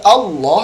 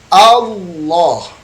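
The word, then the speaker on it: الله: Nah, banyak di antara kita yang baca Allah dengan Allah. Ya. Yang benar Allah. Ya. Jadi tidak ada au. Tidak ada unsur wawunya ya.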